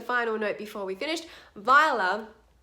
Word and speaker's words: Viola: And just as a final note before we finish, Viola as a name is pronounced with 2 syllables, not Viola or Viola.